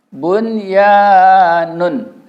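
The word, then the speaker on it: بُنْيَانٌ: Tapi kita tidak boleh membacanya dengan bihunah. Kita harus membacanya ishar. Jadi bacanya bun, ya, nun. Ianya tetap 2 harakat ya. Ini aturan ini tetap fathah ketemu alif tetap 2. Jadi bunyanun.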